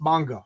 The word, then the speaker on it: manga: All of a sudden, these were big sellers, and then I think right now, with I shouldn't say nobody, but manga is pronounced manga.